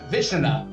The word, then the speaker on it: Vishnu: It's the pronunciation is exactly what you... What it looks like? Vishnu.